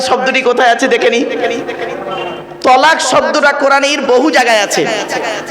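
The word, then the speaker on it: طلاق: একত্রিত হওয়া জমা হওয়া আমরা তলাক না বলে সব তালাক বলি আসুন এবার কোরআনের শব্দটি কোথায় আছে দেখে নিই তলাক শব্দটা কোরআনের বহু জায়গায়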